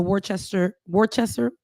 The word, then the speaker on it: Worcester: Ashley Spring, who was a candidate for the Worcester, Ben, that's your city. It's actually Worcester. And I don't ask me why it's pronounced like that, but yes, go ahead.